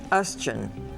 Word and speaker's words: ustion: Ustion.